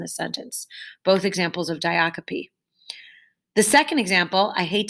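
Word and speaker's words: diacope: them diocopy and coma ratio that word is pronounced diocopy not diacop diocopy and como ratio so diocopy is repetition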